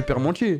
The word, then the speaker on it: parmentier: hachis parmentier nantes est ça s'écrit parmentier mais tout le monde j agis permentier ils l'ont m'a menti